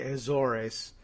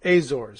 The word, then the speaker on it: Azores: it's a Portuguese territory I thought they might say Azores they might I all right from now on I won't I this